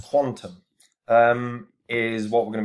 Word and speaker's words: QTUM: kutum pronounced quantum um is what we're